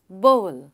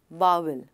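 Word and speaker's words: bowl: और इसका correct pronunciation है बोल. बोल नॉट बाउल. वो गलत है.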